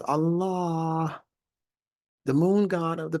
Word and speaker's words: Allah: the word in the Quran is to be pronounced Allah that's it not Allah with two A's and Three A's and all